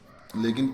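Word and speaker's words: lack: के आ रहा है तो उस सी के में के साइलेंट होता है उसका उच्चारण नहीं होता है केवल केवल सी का उच्चारण के होता है जैसे आर ए सी के रक बी ए सी के बैक एनसी के नेक है ना जैसे एचसी के हैक जैसे जे ए सी के जैक जैसे एल ए सी के लक इस प्रकार से यानी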